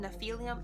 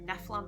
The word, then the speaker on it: Nephilim: I always pronounced them Nephilium in my head, and then the movie came out and they were Nephilim, and I'm like, what is a Nephilim?